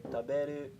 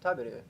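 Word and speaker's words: 食べる: Like they'll say taberu instead of taberu.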